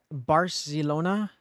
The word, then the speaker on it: Barcelona: say it hold on how Spanish people say Barcelona oh apparently do not pronounce Barcelona with a th you will make wait